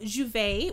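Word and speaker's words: J'ouvert: like day open and um you know it's pronounced as juve in trinidad and there's like festivities and um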